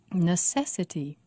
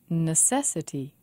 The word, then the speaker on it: necessity: stress is on part necessity necessity four syllables and the stresses on se ordinarily ordinarily five syllables